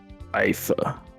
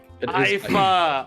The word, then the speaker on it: Aifa: Aifa. Aifa.